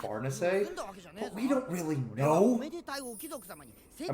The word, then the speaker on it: Farnese: one of my friends for pronouncing her name fares instead of farness we don't really know